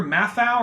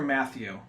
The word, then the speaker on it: Matthau: a dynamic between Wafaa is it Walter Matthau or Walter Matthew Matt I have Matthau I think out it's always pronounced I was hoping for